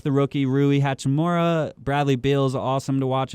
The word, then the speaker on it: Rui Hachimura: But I do think they got a very good piece in the draft in Rui Hachimura.